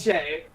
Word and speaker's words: Shea: Is it Shea? How do you pronounce it? It's Shay. Yeah.